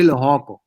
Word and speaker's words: Lehoko: I say Lehoko. It's one of the easier ones to pronounce.